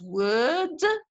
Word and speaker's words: word: The word can be pronounced in 2 different ways. It can be pronounced as word, which is British English, without pronouncing the R. When the R occurs before a consonant in British English, it is not pronounced. But this is not so in American English.